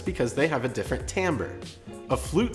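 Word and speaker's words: timbre: for the sound of an instrument is called Tambor it's spelled t IM bre but it's pronounced Tambor and so if we altered some of these harmonics brought some of them up it would alter the tamra of the flute it might make it sound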